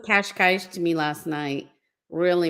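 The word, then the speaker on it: Cascais: I always correct people when they say, someone said Kashkaish to me last night. Really messed up. I forget what she said. I say Kashkaish.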